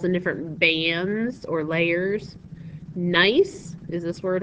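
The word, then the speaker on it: gneiss: got different minerals and different bands or layers nice is is this word right here that's the way you pronounce it nice nice is nicely banded is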